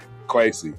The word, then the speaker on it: Kwesi: I can't pronounce his last name, but his first name is Kwesi. Kwesi, correct.